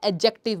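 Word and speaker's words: adjective: एडजेक्टिव भी बोलते हैं, एडजेक्टिव भी बोलते हैं। यूजुअली वैसे हमारा एडजेक्टिव में डी साइलेंट होता है। इसलिए एडजेक्टिव बोलते हैं।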